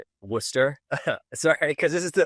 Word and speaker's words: Worcester: So, um it's pronounced Worcester by the way before I pretty close though. I I I almost had it. Worcester.